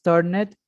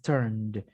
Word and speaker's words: turned: Una cosa que pasa en inglés es que la ed en los verbos mayoritariamente no se pronuncian. Entonces no es turned, es turned. Haz como si la e no existiera y solamente me vas a pronunciar turned, como si fuera la d.